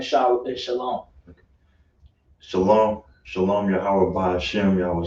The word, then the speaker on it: Shalom: Remember that W is silent in Shalom.